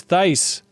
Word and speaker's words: Thice: Next caller is Medio, Jeff Cork, otherwise known as Matthew, rhymes with ice thice.